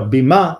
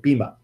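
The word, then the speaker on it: bimah: place in the world Beema Beema death bi ma H I guess beam up yeah right the Bema is like the correct hebrew pronunciation but a lot of people will just say bhima that's sort of the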